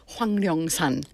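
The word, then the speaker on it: Hwangnyeongsan: Yes, and I went to Hwanglyeongsan. Yes. The pronunciation's very tough.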